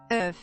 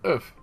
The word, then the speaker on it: œuf: Let's look it up and see how Google says to pronounce it. God. Hold on. Hey, computer. How do you say egg in French? Œuf. Yeah, oof.